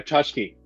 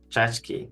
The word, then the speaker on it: tchotchke: Oh, tchotchke. Chachki, that's it. Tchotchke, yeah. I didn't remember how Okay, to okay.